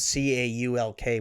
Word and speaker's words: caulk: You have to really you have to make sure that the L is prominent, or else I think that there's a cock on a gun that you use sexually. It's spelled C-A-U-L-K, but it's pronounced caulk.